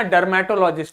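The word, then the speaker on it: dermatologist: और ध्यान दो, जब प्रोनाउंस कर रहे हो तो आर को बोलना नहीं है, ठीक है। जैसे हमने पढ़ा डर्मेटोलॉजिस्ट, तो ये नहीं बोलना डर्मेटोलॉजिस्ट, नहीं, डर्मेटोलॉजिस्ट।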